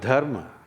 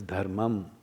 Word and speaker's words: dharma: Anyway, the word dharma, most of you are from North India. So you you cut it, you eat up the last syllable into dharma. All right? It's dhum in Sanskrit.